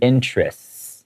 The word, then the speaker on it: interests: when it's plural so usually we pronounce it like with a long s sound interests like that at school